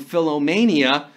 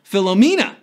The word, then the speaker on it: Philomena: he was suffering from Philomania. Well, that's how Leonardo DiCaprio pronounced the phenomenal Philomena at the 71st Golden Globes, and we're down to 24.